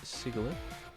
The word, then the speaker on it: Sigilyph: Alright, looks like up next here is Sigilyph. Or Sigilyph, I don't know. Yeah, Sigilyph is actually correct pronunciation.